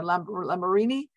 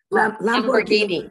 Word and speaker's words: Lamborghini: uh help me out the with with the pronunciation here la la marini lamborghini lamborghini fabric and binghamton we don't see any